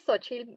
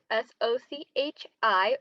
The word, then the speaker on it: Xochitl: hi my name is sochi pronounced phonetically as s-o-c-h-i or s-o-c-h-i-l sochi my pronouns are she